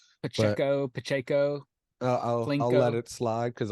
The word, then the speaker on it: Pacheco: So I think taking Pacheco with what he showed there in the end